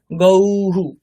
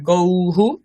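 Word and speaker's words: গৌঃ: একবার বচনে গৌহু গৌহু তাহলে ঔকার তারপরে বিসর্গ আছে তাহলে ওরকম উচ্চারণ করতে হবে বিসর্গেরও গৌহু ঔ এরকম উচ্চারণ হবে গৌহু দুই বচনে গাব বহুবচনে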